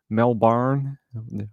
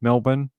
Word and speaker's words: Melbourne: to the home in Melbourne by the way Americans that's how it said melbour uh for an infant not breathing it's it's not melb bar it's just Melbourne I always find it